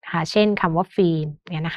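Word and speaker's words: ฟิล์ม: ตก อื่น ๆ นะ คะ เช่น คำ ว่า ฟีม เงี้ย นะ คะ ก็ จะ มี ตัว การัน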